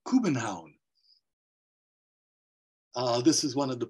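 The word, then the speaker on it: København: the city of Copenhagen which is actually pronounced Cuban Hound this is one of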